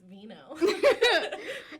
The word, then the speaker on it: Vigneaux: My last name is Vigneaux.